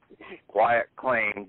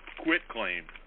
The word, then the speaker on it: quit claim: up yesterday, the Ecclesiastical Quiet Claim Deed. Oh, okay, the one you talked about. That's the big thing, okay? Hey, Patrick, you call it quiet claim, but you spell it quit claim.